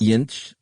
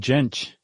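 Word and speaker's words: Jentsch: Yinch. That's good stuff. I think I put a T on the end, but the T's in the middle.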